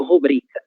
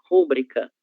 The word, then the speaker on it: rubrica: Em português, rubrica, certo? Rubrica. E é muito comum que os brasileiros, de um modo geral, inclusive eu, há um bom tempo atrás, fazia a leitura como no espanhol, rúbrica.